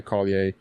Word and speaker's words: Collier: Like your your Canadianness is showing through cuz you're pronouncing it like the way that probably the uh ancestors of that name pronounced it. But in America, you got to pronounce all of your consonants. So, Collier.